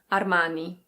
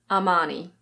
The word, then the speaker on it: Armani: In Italian it's something like Armani. Armani. But in British English this is Armani. Armani. In American English it's similar, but the R is pronounced. It's Armani.